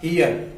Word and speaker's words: heir: उससे पहले ये HEIR, इस वर्ड में जो है, इस वर्ड की शुरुआत कॉन्सोनेंट से हुई है, लेकिन इसका जब हम उच्चारण करेंगे, जब हम इसका साउंड करेंगे तो वॉवेल होगा, तो इससे पहले एन लगेगा।